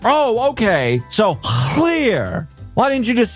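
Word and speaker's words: Llŷr: Think more Shakespeare's king, less Star Wars princess.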